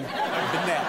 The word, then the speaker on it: Bennette: That's how he pronounces his name. Bennette.